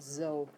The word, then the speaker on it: so: Okay, not so, but zo. So like a Z.